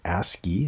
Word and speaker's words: ASCII: that's what was called or ascii it's how you pronounce that it sounds like you're saying something dirty but you're not and and this is